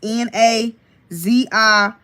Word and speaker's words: Naziyah: Naziyah is spelled Naziyah. Again, it's Naziyah.